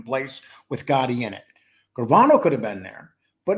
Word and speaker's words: Gravano: Gambino family along with oh you said it right the gravano family Sammy Sammy gravano would actually make you think it was the grovano family I don't know why